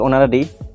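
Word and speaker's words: honorary: তারপর দেওয়া আছে dash অনারারি secretary Gates not salary, so আনসারে বসবে এন, কারণ এখানে এইচ হলো সাইলেন্ট। তারপরে কোয়েশ্চেন লেখা আছে যে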